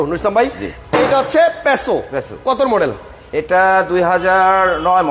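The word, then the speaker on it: Passo: হোক আমি আমি আচ্ছা আমরা অনেক অনেক অনেক উচ্চারণে ভুল করি যে যেখান থেকে আসলে এই কথায় আসি যেমন এটা আসলে প্যাসো হ্যাঁ আমরা বলতেছি পাসো টাকসন গাড়িরে দেখেন কেউ বলে টুসান কেউ বলে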